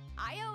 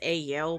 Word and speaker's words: IO: weird slang Walla no IO is my robot companion and I'm I thought it was AO but IO I'm I've been pronouncing it wrong this whole time like oh [ __